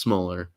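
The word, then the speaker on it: Schmoeller: schmoller a lot of people mispronounced his name too but it's just smaller or dakota um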